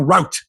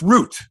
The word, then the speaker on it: route: That's how they say it in the States. He took the wrong route. Here it's root. Right. Which can be confused as root, like a root vegetable. And there it's route, the route is on.